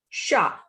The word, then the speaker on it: chat: P is the last consonant, as I have told you earlier also that if P is at the end, we don't pronounce it. It is a muted consonant. So the pronunciation is L, sha.